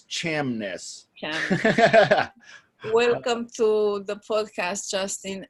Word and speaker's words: Chamness: last name Jamis shamless shamness it's like it's like Loch Ness like the Loch Ness monster you have you heard of that yeah it's like the Loch Ness except it's Cham ness welcome to the podcast